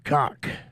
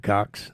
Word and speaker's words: Cox: The Chinese do not pronounce the S at the end of my name. They say table for Mr. Cock. LOL. Well, there's no S at the end of your name, Mr. Cox.